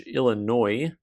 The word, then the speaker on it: Illinois: This is the 1918 Abraham Lincoln / Illinois. The S is silent.